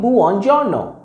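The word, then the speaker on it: buongiorno: me good morning boo on your no let's pronounce it with me good morning boo on giorno let's come to the next word good afternoon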